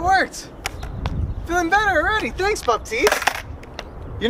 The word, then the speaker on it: Baptiste: I don't really know how to pronounce. I'm not French. How do you? Let me look it up real quick. Baptiste.